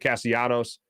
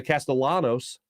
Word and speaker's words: Castellanos: schwarber and uh nick castianos uh who by the way um hispanic not greek as i thought for many years i was pronouncing the castellanos not right janos castellanos uh just for a